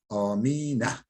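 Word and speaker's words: آمينَ: Amine. Aslı aminedir. Mebniyun alel fethati fetha üzere mebnidir. Yani efendim her zaman amine diye okunur.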